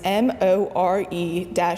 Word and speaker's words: Maire: mantra at one point my twitter name was m.o.r.e you h more uh so that even strangers on the internet would know how to properly pronounce my name the confusions the confusion